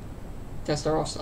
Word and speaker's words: Testarossa: is he cool yet testa Rossa uh-huh that's why I say in America they can't pronounce anything right no offense testa Rossa